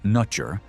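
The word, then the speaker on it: netjer: The word for God, pronounced nutcher, survived into Coptic as newt, and was even used to denote the Christian God in early translations of the Bible.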